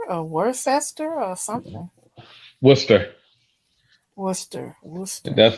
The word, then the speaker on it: Worcester: graduation to attend and uh I guess they pronounce it Worster or Worcester or something Worcester Worcester that's an hour and